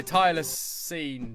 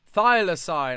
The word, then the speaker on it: thylacine: I came, I saw, I Tyler seen. Is that how you pronounce that? How do you pronounce that? How do you pronounce? I'm intrigued. Thylacine.